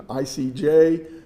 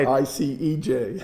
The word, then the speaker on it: ICJ: translate questions like this be very careful in your pronunciation icj not IC EJ absolutely it's very I